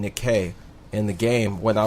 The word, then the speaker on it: Nike: It's actually pronounced Nikkei and not Nike. Nike's just how Americans say it.